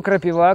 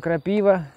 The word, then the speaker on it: крапива: Кто-то называет ее крапива, кто-то называет ее крапива. В общем, ударение кто как ставит.